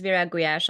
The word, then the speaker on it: Virag Gulyas: appreciation for that so yes my name is Vera guash I'm originally from Hungary and if you would